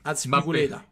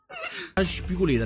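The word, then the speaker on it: Azpilicueta: Aspiligueta. Aspiligueta. Lottin. Mappé. Aspiligueta. Aspiligueta. Vabbè, però questo sì, è impicciato. Aspiligueta. Aspiculeta, ragazzi. Aspiculeta.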